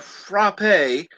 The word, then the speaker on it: frappe: uh right here a frappe a frappe i'm sorry i don't call it a frappe because it's called frap is a milkshake with